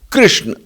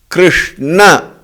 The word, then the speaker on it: Krishna: call it as Arjun, Krishna. But according to the Samskrita Bhasha, Arjuna, Krishna, the pronunciation has to be that way.